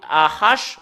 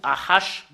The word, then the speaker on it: ה: Et le fait de le prononcer, Nous allons le séparer ici, soit H ou AH.